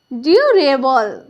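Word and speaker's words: durable: ड्यूरेबल। तो आप जो है ना यहाँ पे यू का उच्चारण यू या यो कीजिएगा।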